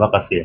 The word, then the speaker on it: AASM: หา ไม่ ยาก นะ จะ สำรอง กอง คิว เป็น ออนไลน์ ก็ ได้ Line @ AASM อ่าน ว่า เกษม นะ เอา สเปน นิด